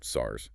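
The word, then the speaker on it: SSARS: accounting and review services or SRS pronounced SARS.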